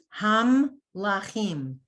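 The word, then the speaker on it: המלכים: So it's ham lachim. So after the mem with the shva, that's the end of the syllable. That's a stop. It's silent.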